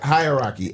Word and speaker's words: hierarchy: Hierarchy. H-E-I. Wait, what? Hierarchy. Don't you got to pronounce it right first, too?